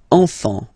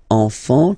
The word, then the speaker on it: enfant: Enfant. Don't pronounce the T, you don't pronounce the S. Enfant, okay?